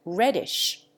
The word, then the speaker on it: radish: Contrariwise, e displaces a in catch and radish, which are commonly pronounced ketch and reddish.